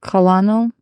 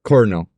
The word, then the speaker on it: colonel: yeah no you're looking at the right one colonal that that one's pronounced cor Coral colonal carinal what Coral you know one which